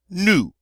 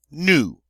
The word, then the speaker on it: nous: In French, it is nous. Nous. And that is that nice oo sound. Nous. Notice the S is silent on the end, as most final consonants are in French.